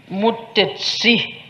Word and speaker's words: Mutesi: And His Excellency the President said that the name of the bride, Mutesi, it is also in Ankole, but in Ankole they pronounce it a bit differently, Mutesi with the TSI, and that means a favorite child.